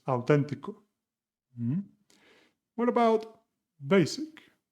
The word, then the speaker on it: auténtico: And another reminder regarding the pronunciation, as you see, basic, authentic, the intonation in Spanish is auténtico, básico, and they always have an accent mark in the third from last syllable of the word.